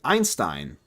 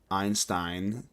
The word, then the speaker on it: Einstein: If you're reading German and there is an ei or IE situation, just pronounce the second letter and ignore the first. Like Einstein. I gotcha. I gotcha. Einstein.